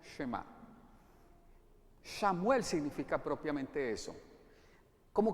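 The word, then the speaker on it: שְׁמַע: Escucha, en hebreo se dice Shema.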